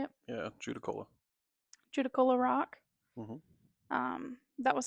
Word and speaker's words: Judaculla: Yeah, Judicola.